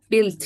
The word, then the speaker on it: built: said that you boiled remember that the ew is silent you built it okay and then the pronounce in number